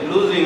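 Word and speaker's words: losing: উর্বর জমি, ইজ লুজিং, উচ্চারণটা কি হবে? লুজিং। আবার লসিং করে না তোমরা, ছাত্ররা লসিং করে।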